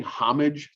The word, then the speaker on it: homage: apples so uh paying homage to something h-o-m-a-g-e homage or with the um french pronunciation homage um is a really